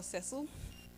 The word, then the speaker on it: Cecil: To many, he was Cecil, or Cecil, as that's how his name was commonly pronounced in Australia.